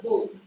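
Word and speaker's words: bough: This pronunciation B-O-U-G-H is a bow.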